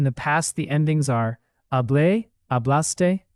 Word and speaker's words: Hablé: Hablé, hablaste, habló, hablamos, hablaron. One tiny but important detail. In Spanish, these written accents matter. Hablé with an accent on the final A means I talked.